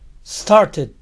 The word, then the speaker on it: started: Termina en sonido T. Ed se pronuncia id. Started. Started.